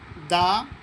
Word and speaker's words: the: অর্থাৎ ভাওয়েল থাকলে দি উচ্চারণ হবে আর কনসোনেন্ট থাকলে দা উচ্চারণ হবে।